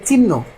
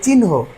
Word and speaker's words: চিহ্ন: উচ্চারণ এই বিষয়গুলো আছে তাহলে এটা কিন্তু আমরা চিড়াচড়িতভাবে অনেকেই শিখে আসছি যে চিহ্ন আসলে কিন্তু এর সঠিক উচ্চারণটা হবে চিহ্ন ঠিক তেমনি এটা অনেকে